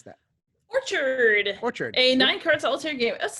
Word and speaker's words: Orchard: Liz, I know you did a preview, I think, for this one, but Orchid Orchard, how do you pronounce that? Orchard.